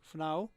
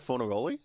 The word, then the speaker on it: Fornaroli: Funau. I wish I could pronounce soccer names properly. Are you talking about Fornaroli? Fornaroli, yeah.